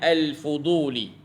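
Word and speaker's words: الفضولي: yang lagu ni namanya al-fuduli tuan-tuan sebut dengan alfuduli Al fuduli alfuduli al-fuduli tuan-tuan ejaannya alif lam Fa dad wau lam ya alfuduli ambil daripada perkataan fadlun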